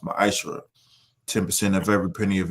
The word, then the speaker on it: ma'aser: Ties, which is a commandment you can find is in Numbers 18:21 and and Malachi 3:8 through 10, means tenth in Hebrew and is pronounced ma'aser.